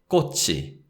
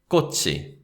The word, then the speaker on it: 꽃이: And because we have 이, the particle, the sound of 치읓 links with that syllable. So we say 꽃이, 꽃이, right?